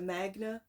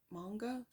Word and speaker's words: manga: for my son and he corrected me cuz he said the Magna or no ma manga I don't even know no I said it wrong and he corrected me